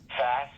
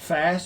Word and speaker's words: Fass: I don't know how to pronounce her last name, AJ. Fass, F-A-S. Fass, okay.